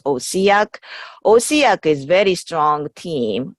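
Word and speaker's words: OHCAC: controlled environment Agriculture Center we abbreviate as ohc AC and we pronounce osiac osiac is very strong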